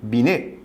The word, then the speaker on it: Binet: o teorema de binet se escreve bilhete mas pronuncia-se bi né o que que diz